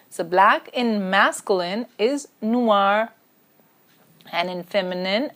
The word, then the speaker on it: noir: color huh black so black in masculine is Noir and in feminine its new our pronunciation basically is the same but then feminine